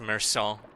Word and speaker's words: Meursault: It's pronounced Meursault. Dude, if some English motherfucker wrote it as Meursault, I'm gonna say Meursault because this makes me think of a somersault.